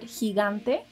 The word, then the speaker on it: gigante: Now, did you notice that letter G has two different sounds in the word gigante?